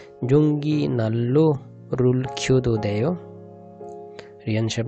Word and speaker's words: 난로: এটা অনেকে হয়তো উচ্চারণ করতে পারে, নান নান রো, নান রো উচ্চারণ হচ্ছে নাল্লো, নাল্লো নাল্লো, জঙ্গি নাল্লো রুল, জঙ্গি নাল্লো রুল।